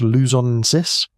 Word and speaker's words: luzonensis: In the Philippines, Homo luzonensis, pronounced luzonensis, was too.